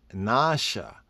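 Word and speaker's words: נשא: that's above the s properly pronounced in Hebrew the word that is featured here 53 77 the Hebrew is Nasha it's nausea nausea means to deceive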